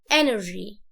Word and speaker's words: energy: كلمة طاقة، احنا شعب مليء بالطاقة فهنقول energy. ركز في النطق اللي انا بقوله، انا ما بكسرش قوي، ما بقولش inner، لا غلط، energy.